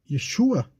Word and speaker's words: Yeshua: nome fosse difundido porque com o nome de yeshua como a pronúncia né correta ele teria uma resistência